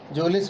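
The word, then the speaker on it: mjolis: इसमें am silent है, जोलिस बोला जाएगा बच्चों.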